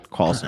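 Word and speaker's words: Karlsen: car Carlson Carlson yeah k r LS n Carlson okay yeah the Casper Fork you know with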